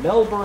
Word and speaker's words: Melbourne: on YouTube M YouTu Melbourne that's how they pronounce it Melbourne thanks to your other austral or uh Australian